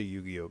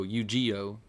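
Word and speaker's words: Yu-Gi-Oh!: mine for some time at least you can pronounce it correctly yugioh you know some people will go ugo yeah well you there's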